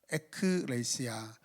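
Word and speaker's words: ἐκκλησία: 에크레시아는 두 가지 합성 단어죠.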